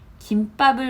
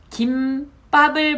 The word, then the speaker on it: 김밥: 그렇기 때문에 요거는 맞고요 김밥을 먹고라고 했는데 요것 역시 원래는 김밥이라는 발음이 맞습니다 그런데 이것 또한 2016년에 개정이 돼서 김밥 김밥 다 허용이 됩니다 요거 두 개 맞구요